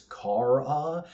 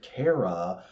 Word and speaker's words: Kara: There's always been some debate over it amongst readers with some thinking it's Kara and others going with Cara.